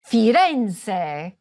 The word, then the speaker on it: Firenze: In Italian the stress most often falls on the penultimate, or second-to-last, syllable: firENze. saLERno. toRIno. orvIEto. aBRUzzo.